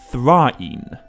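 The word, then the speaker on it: Thráin: more than anything else, this name should be pronounced Thrine.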